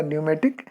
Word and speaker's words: pneumatic: तो आप देखिए न्यूमेटिक की स्पेलिंग PNEUMATIC. इसमें P साइलेंट है, तो बट वी are pronouncing it एज अ न्यूमेटिक या वायु चलित.